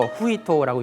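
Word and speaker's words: 史: 그리고 그 다음에 타니하노 후히토라는 역사 사자를 써서 후히토라고 읽는데요.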